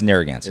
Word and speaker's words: Narragansett: It's Narragansett.